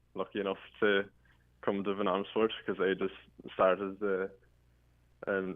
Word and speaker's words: Van Amersfoort: Is that how it's pronounced? Yeah, it is. Yeah, Van Amersfoort.